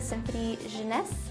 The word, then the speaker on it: Symphony Jeunesse: Can you talk a little bit about your symphony, the Symphony Jeunesse? Yes, oh, you pronounced that so beautifully, thank you.